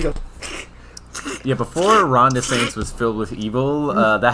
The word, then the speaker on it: DeSantis: It's Ron DeSantis.